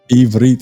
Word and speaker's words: Ivrit: Ivrit. Okay, Ivrit is how you say Hebrew in Hebrew.